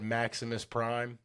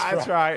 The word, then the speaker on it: Optimus Prime: I guess you said Maximus Prime. Did I say it wrong? And I agreed. We were wrong. Yeah, Optimus Prime. That's right.